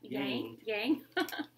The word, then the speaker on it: Yang: Yang. Like a yin yang.